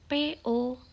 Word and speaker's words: bo: Di situ ada huruf BO, PO, MO, dan FO. Kita lihat yang pertama, BO. BO adalah pelafalannya po. Jadi huruf B dalam bahasa Mandarin dibaca seperti huruf P.